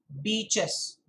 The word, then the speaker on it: beach: me pronounce this word beach beaches b-e-a-c-h beach it's a long vowel okay beach not beach very very important subtle but avoid embarrassing